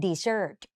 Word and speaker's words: desert: ของ แถม แล้วะ กัน ถ้า มัน เขียน เหมือน กัน แต่ ออก เสียง เป็น Desert หนู เห็น มย ตัว